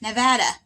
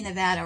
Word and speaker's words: Nevada: are from government when they say nevada wrong but everyone that is from nevada says it right yeah even people that weren't born in nevada but have lived here long enough they know it's pronounced nevada just like my name